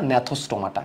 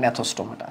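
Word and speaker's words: Gnathostomata: তাহলে দেখো সুপার ক্লাসে ভাগ করলাম আমি, সাইক্লোস্টোমাটা, ন্যাথোস্টোমাটা। এর ন্যাথোর মধ্যে জিটা, সাইলেন্ট জি থাকবে একটা।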